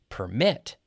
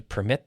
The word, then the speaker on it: permit: So the verb gets the stress on the second half, and the noun gets the stress on the first half.